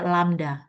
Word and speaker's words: lambda: Atau sama dengan PX itu adalah lambda, ini bacanya lambda ya.